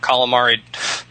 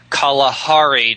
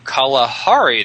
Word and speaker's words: Kalahari: kison languages in the calamari Kalahari Desert I always say Camari desert I'm Kalahari Desert not the squid fried and delicious um they uh they